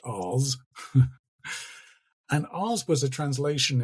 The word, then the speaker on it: ars: It comes from the Latin A R S not pronounced ass but Oz and RS was a